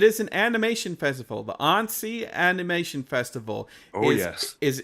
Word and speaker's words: Annecy: It That is the Annecy Animation Festival in France that we've been talking